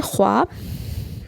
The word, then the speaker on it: خواب: اس واو کو کہا جاتا ہے جو لکھنے میں تو آئے مگر پڑھنے میں نہ آئے, یعنی اس کا تلفظ ادا نہ کیا ہوا ہو, جیسے خواب, درخواست, خواہش, خوابیدہ وغیرہ لفظوں کی واو ہے.